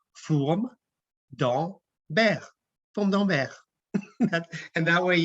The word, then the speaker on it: Fourme d'Ambert: I don't think we have it linked to the presentation, but it says something like Fourme d'Ambert, Fourme d'Ambert.